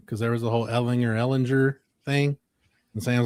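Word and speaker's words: Ehlinger: He's like, all right, then it's Ellinger. I'm like, okay. Ellinger is dead. It's Ellinger, and I'll correct everybody from now on.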